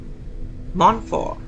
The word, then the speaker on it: Montfort: Because it's French, so we won't pronounce that last T. Montfort.